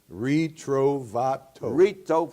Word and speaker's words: Ritrovato: and then go ahead what's your name retreive Otto you know my daughter was saying to get us in syllables REE trove Torito fat oh yeah okay and what you are